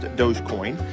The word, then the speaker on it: Dogecoin: So, it's spelled like doggycoin, but it's pronounced Dogecoin.